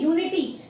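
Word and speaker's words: unity: वैसे तो ये वॉवल से स्टार्ट हो रहा है, बट वॉवल के साथ साथ हम इसका प्रोनाउंसिएशन क्या करते हैं, यूनिटी। तो फिर से आ गया हमारा या, और या हमारा व्यंजन है, तो इससे पहले हम क्या लगाएंगे, ए यूनिटी।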